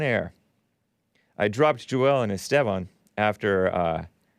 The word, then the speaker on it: Esteban: And the very first show was Sunday, September 3rd, 2017, the Hake Report with Joel and Esteban. That's roughly the correct pronunciation of Esteban.